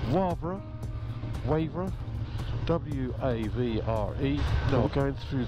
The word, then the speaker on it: Wavre: Day 14, and we're leaving the Schlossberg Hotel, Homberg, for, wait for my pronunciation, Wavre, W-A-V-R-E.